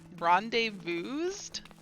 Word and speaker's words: rendezvous: things ah see rendezvous rendezvoused always cry I don't think that's a word rendezvous not Rendezvous I guess Rendezvous just pronounced the S is silent okay never mind that's